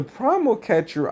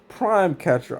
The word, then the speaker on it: Prime Catcher: the thing with the primal catcher, I feel like prime. Oh, I've been calling it primal. I don't know why. Prime catcher. I'm sorry, I've been saying it wrong.